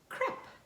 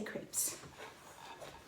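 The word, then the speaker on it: crêpe: our fourth egg and i think in france they would pronounce it crap but i say crepes all right four eggs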